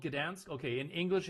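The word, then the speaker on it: Gdańsk: It's Is it called Gdansk? Okay, in English it's Dan. I think in German it's Danig, but in in Polish it's Gdansk.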